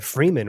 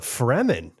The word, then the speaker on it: Fremen: And he was like, I always thought the Freemen were really interesting. And I was like, Yeah. the what? Oh, the Fremen. Oh, he's like, you call it Freeman? It's like, no, it's one E. Yeah. Fremen.